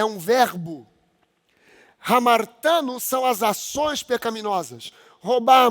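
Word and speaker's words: ἁμαρτάνω: Hamartano são as ações pecaminosas. Roubar, matar, mentir, adulterar. Isso é hamartano. Se escreve com H, não é com R. Hamartano.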